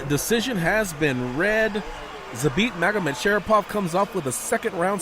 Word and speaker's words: Magomedsharipov: Zabit, how do you pronounce the name? Magomedsharipov.